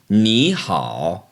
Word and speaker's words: 你好: third tone words together the first of those changes to a second tone so instead of saying me ha which is kind of a bit of a strain we say Neha Neha also in daily